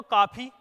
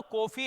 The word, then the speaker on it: कॉफी: कॉफी देखिए अगर मैं इसको ऐसे पढ़ूं तो काफी अगर मैं ओ की मात्रा कॉफी ना तो कॉफी है ना काफी क्या है कॉफी क्या है कॉफी तो यानी के यहां आधे ओ का उच्चारण लगा इसलिए यहां आगत स्वर का